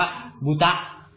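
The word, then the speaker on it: ぶた: บูตะ นะ ครับ จริง ๆ ออก เสียง ว่า บูตะ นะ ครับ บูตะ บุตะ นะ ครับ แล้ว ถ้า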